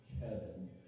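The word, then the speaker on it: Caoimhín: It's It's Irish Gaelic and it's pronounced Kevin.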